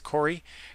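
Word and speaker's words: Coray: I think it's pronounced Corey. It's Koray, but I'm pretty sure that you would say that as Corey Coronel.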